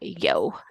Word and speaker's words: Jo: going to call her yo if spelled Joe but pronounced Yo which is super cute